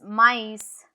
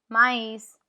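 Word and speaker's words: maïs: no l can you see how e is pronounced separate to O Noel which is Christmas Noel I with is mice mice mice which means corn sweet corn without Thea m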